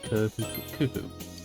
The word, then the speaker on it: Khufu: It's Khufu.